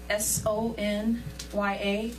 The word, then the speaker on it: Sonya: Joel has it, but it's Sonya, S-O-N-Y-A. Just pronounce it.